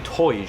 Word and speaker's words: Tyr: I asked how do you pronounce Tyr in your language, and they said something that sounds like Toj.